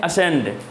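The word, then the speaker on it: ascend: तो इसे अगर एक्चुअल में पढ़ा जाए तो इसे हम पढ़ते हैं एसेंड। क्या पढ़ते हैं? इसे हम लोग पढ़ते हैं असेंड, असेंड पढ़ते हैं। तो इसमें से जो है कि असेंड यानी कि सी वर्ड जो है कि इसमें क्या दिया हुआ है?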